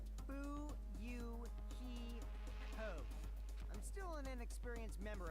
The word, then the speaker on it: Fuyuhiko: My first name is pronounced Bu-Yu-Hi-Ho.